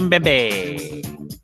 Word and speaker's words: Mbembe: Mokele Mbembe. Yeah, that's it. I fucking always pronounce it wrong.